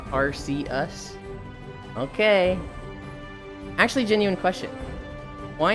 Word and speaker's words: Arceus: Arceus is pronounced Arceus.